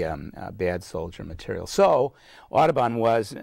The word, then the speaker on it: Audubon: heavy French accent and would have pronounced his name audible and not Audubon the way we say it the you do